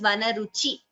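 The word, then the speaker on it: वनरुचि: Ruchi, E, it is a hrasva, that is a short letter. Like yesterday we learned, short letters, they're not prolonged while pronouncing them. So Vanaruchi Luntaka, it is not Ruchi, that is not the word here, it is Vanaruchi.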